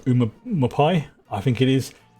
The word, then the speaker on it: Umamusume: I must really love Umamusume.